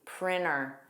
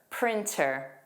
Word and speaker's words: printer: Let's review printer without the T, printer. Here's the clip. Many routine things at work, like purchasing a printer. In this clip, the speaker pronounced the T, printer.